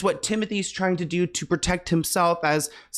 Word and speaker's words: Timothée: with Timothée Chalamet, which I know it's Timothy, guys, but look how it's spelled. I mean, Timothée sounds cooler, but Kylie Jenner claims she's never been in love like she is with Timothée.